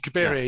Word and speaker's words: Cabiria: I always get the pronunciation of that one wrong because I always Cabiria.